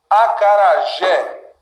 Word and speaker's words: acarajé: Acarajé. Trenó. Também. Parabéns. O que eu tenho, pessoal? Sílaba tônica dessas palavras que eu acabei de dividir, né, é sempre a última.